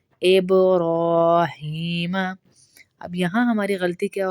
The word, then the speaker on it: ابراہیم: عین کی آئے گی۔ آلی ابراہیم، اب پہ با پہ قلقلہ ہوگا، ابراہیم۔ اب یہاں ہماری غلطی کیا ہوتی ہے؟